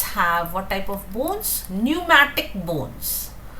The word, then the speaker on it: pneumatic: Pneumatic bones. Be careful with the spellings. P is silent.